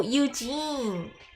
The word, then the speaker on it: Eugene: Oh, Eugene! Okay, thank you. I didn't know. It seems like your grammar's pretty good. Like, I totally didn't know that. Eugene is how it's pronounced. It's a French word.